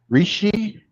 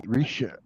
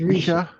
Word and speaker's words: Risha: Rishi? I'm not trying to be funny, Bone Dead. I'm not. I just can't pronounce it. It took me a while. Risha. It's Risha. Risha.